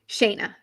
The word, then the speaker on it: Shanna: our special guest is Shana do you pronounce it Shana or shayana Shaina okay sorry Shaya